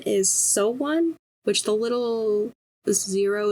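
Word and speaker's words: SONE: fan called so one it's s and then a heart and then an n e but in the they put it in quotations and they it like pronounced so one so I think that's how you say it um oh I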